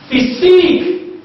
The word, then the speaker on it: physique: Physique, physique, the last syllable is stick.